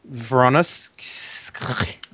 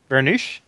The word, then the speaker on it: Voronezh: This is a reconnaissance and bombing of the actual German positions near Stary Oskol, southwest of Voronezh. Vernush?